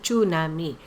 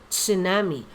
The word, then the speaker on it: tsunami: the infamous tsunami angbigas pujan is tsunami tsunami hindi nami tsunami also note how you